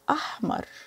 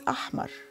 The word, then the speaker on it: أحمر: The first color we have is the red one, like strawberries, is ahmar. Red is ahmar. Ahmar. Remember, the H is pronounced ha.